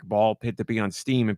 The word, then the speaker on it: Ball x Pit: Now, you do not pronounce the X in ball X pit. It's just ball pit with the X in the middle.